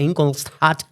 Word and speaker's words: Ingolstadt: que iba creciendo, que se fue luego a Ingolstadt. Por favor, ¿puedes decirlo? Porque es que yo lo leía y decía, ¿cómo pronuncio yo esto?